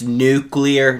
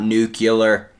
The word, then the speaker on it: nuclear: that says this but it's nuclear not nucular you